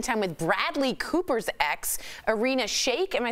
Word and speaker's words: Irina Shayk: According to TMZ, Kanye is spending time with Bradley Cooper's ex, Irina Shayk.